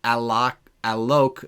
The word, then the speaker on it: Alok: And it's Alok. It rhymes with joke.